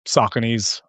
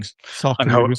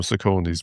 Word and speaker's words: Saucony: I used to call them Sauconys, but Yeah. Saucony. But yes, I use I don't use anything else. It's just Sauconys.